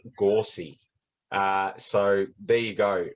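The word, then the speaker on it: Gauci: name is actually pronounced gorsey uh so there you go folks no one has come out with that one yet but uh his name is not actually pronounced gauche it's gorsey so we'll see how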